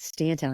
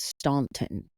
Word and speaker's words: Stanton: I didn't realize it was Stanton. I thought it was Staunton. Neither did I until someone heard me say it and said, it's Stanton.